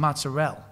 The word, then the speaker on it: mozzarella: I'm going to make it with some mozzarell. Right? Not mozzarella.